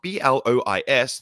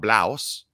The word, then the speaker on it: Blois: He was born in a place in France called Blois, which I had to look up because it's spelled B-L-O-I-S, not Blaus.